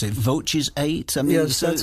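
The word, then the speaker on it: Voces8: Voces 8? Yes, that's how it's pronounced. Voces 8.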